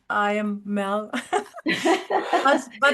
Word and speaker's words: Merle: I pronounce it Mel. It's Mel.